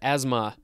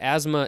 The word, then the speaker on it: asthma: Next, we have the word asthma. It's interesting that asthma is spelled A-S-T-H-M-A, so you'd want to say asthma, but that is not how it's pronounced.